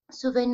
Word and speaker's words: souvent: Decimos en general, souvent, la nasal, ok, de manera que no escuchemos la N.